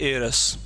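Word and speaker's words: heir: लड़का है तो एयर, और लड़की अगर वारिस है तो उसको बोलते हैं एयरस। बस एच साइलेंट है तो एयर इसकी प्रोनाउंसिएशन रहेगी।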